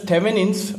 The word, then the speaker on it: Thevenin: theorem that is thin theorem okay it is pronounced as tein the spelling is a bit different i n n but it is pronounced as tein theorem okay thin theorem again very uh tricky